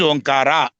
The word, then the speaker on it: Omkara: That is Omkara. That is the correct way of pronunciation.